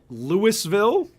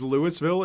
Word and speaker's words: Louisville: fight in my state Lewisville is Louisville instead of the silent s yeah Louisville are you